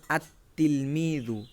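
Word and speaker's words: التلميذ: যুক্ত করি তাহলে হবে আত্তিলমিজু এখানে আলিফ লামটা লামটা বাদ পড়ে গেল আত্তিলমিজু সরাসরি তাকে যে আমরা ধরছি লামের উচ্চারণ হচ্ছে না এটা এখানে বলা হয়েছে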